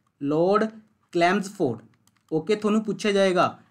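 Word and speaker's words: Chelmsford: ਸੀ India ਦੇ Lord ਕਲੈਮਸਫੋਰਡ, कई इन्हों चलैम्सफोर्ड भी कह देंगे ने, ठीक है जी। अपनी अपनी प्रोनाउंसिएशन है, स्पैलिंग देख लो बस, लॉर्ड क्लैम्सफोर्ड।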